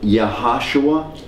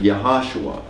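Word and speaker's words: Yahshua: In other words, you'd fully pronounce it Yahashua. I mean, if you fully pronounce it, Yahashua.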